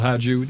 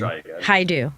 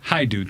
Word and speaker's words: Hadju: we also have Hadju. Did I pronounce that right? No, you didn't. I didn't? That was horrible. how do you pronounce that, please, your last name? Hadju. Hadju. Thank you very much.